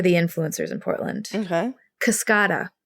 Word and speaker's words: Kascada: influencers in Portland okay kascada it's pronounced kascada but it looks like Cascada right yeah I think everyone thought it was Cascada I thought it was